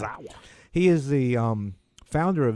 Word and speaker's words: Yusaku Maezawa: trip to the moon is a Japanese billionaire, Yusaku Maezawa. I think I pronounced that right. You got it. Oh, did I get it right? All right. Maezawa.